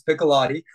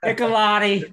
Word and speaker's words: Piccolotti: nope that was me first of all you butchered it it's piccolotti piccolotti I'm sorry I'm okay I understand Adam piccolotti